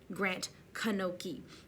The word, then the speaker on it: Grant Knoche: beautiful next up was grant kanoki i've been saying his name wrong all season grant kanoki from texas with his